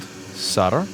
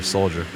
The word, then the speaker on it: solder: over here so we've removed all the old sutter or depending on your pronunciation in this chat saudia soldier i don't know why people call solder soldier the solder doesn't fight for you and we're going to